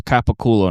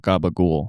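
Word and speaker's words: capicola: It's capaculo, not gaba ghoul.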